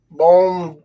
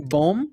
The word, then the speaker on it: bom: Now, how do you say Good. good in Portuguese? Bom? Bom, yeah. B-O-N or B-O-M? B-O-M. Bom.